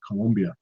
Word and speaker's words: Colombia: I had a customer in Colombia, I have to say it correctly, Colombia.